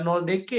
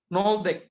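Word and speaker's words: Nöldeke: Jadi ini kemudian jadi pertimbangan untuk memperkuat teori kronologi 3 pembagian Makki oleh si Noldeke, bukan Noldeke ya, Noldeke bacanya.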